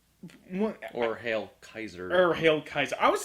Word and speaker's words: Caesar: Even though we say it's Caesar, the Romans would most likely call it Kaiser. The C is pronounced like a hard K, and the AE would have been more like an I.